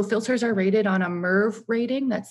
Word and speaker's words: MERV: So filters are rated on a MERV rating, that's spelled M-E-R-V in all caps.